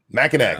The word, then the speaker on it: Mackinac: If I only had ever read Mackinac, I'd get it wrong every time. I never judge anybody for getting that one wrong. Anyway, Mackinac, that's right. That's what people say all the time. That's the correct way to say it.